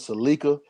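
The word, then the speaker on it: Sa'Leica: for political information uh her name is seleka it's spelled s a apostrophe capital l e i c a if you want to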